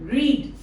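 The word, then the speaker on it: read: have रेड my book but the spelling is same R ई ए डी आर ई रीड रेड रेड okay so दज आर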